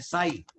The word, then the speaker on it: psi: साई, PSI, okay, P silent रहता है।